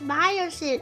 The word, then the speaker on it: Miocene: Oh, it's Miocene. Okay, thank you. I wasn't sure if I was saying it right. I pronounced a lot of words wrong.